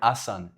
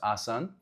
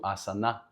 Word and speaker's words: asana: Uh the final letter ah was added by mistake because of the accent of southern Indians. Uh southern Indians when pronouncing asan which is the original word asan.